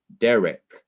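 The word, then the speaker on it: דרך: over the open syllable usually the accent would be on the last syllable but in this word an accent is over the first syllable which is an open syllable and because an accent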